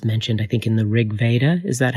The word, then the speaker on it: Rig Veda: of the gods mentioned i think in the rig veda is that how you say it yes yeah